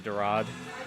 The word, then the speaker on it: dorade: It's pronounced the dorade.